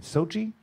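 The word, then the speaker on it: Xochitl: class in seventh grade named sochi okay it's spelled x-o-c-h-i-t-l oh yeah i was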